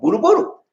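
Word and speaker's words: budol-budol: It's called Boodle Boodle.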